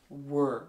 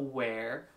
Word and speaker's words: were: okay together okay that's present continuous were nice were were were not where were your good they're good there there very